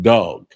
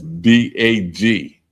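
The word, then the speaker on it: דג: I mean, so I mean, nevertheless, it's fish, and it's pronounced dog, and that's D-A-G. D-A-G. That's how you spell it in Hebrew, but it's pronounced dog, not dag, dog.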